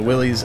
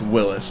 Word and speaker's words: Willys: willies and the Maricopa and that is the willies which I should have been Miss speaking all this time well technically it's pronounced Willis but I think just one of those things against green in your memory you say willies but the America the